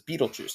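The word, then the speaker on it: Betelgeuse: So this is Riel over here, and this is Bethleuse, sometimes pronounced as Beetleju, depending on how you uh how you want to pronounce it over here.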